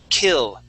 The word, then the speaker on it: kill: the word kill okay it's a natural tendency for you to say kill okay but you want to push against that uh that uh tendency to say an e sound and use what's called a short I sound that short I sounds like this I I so this word is